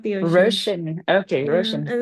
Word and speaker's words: Roisin: Am I pronouncing that right? It's Russian. Like the ocean Russian.